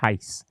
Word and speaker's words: Heiss: So it's pronounced H-I-C-E, Heiss.